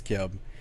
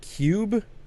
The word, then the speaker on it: Cube: We've been for this entire time we've been pronouncing this Kyub, and someone pointed out, wouldn't it be called Cube?